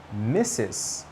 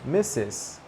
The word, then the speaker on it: Mrs.: Well, if the woman you are greeting is married, then you will say not Miss, you will say Mrs. 2 syllables, Mrs.